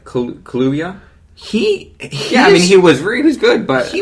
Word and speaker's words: Kaluuya: Daniel, how do you pronounce that? Kaluuya. Kaluuya?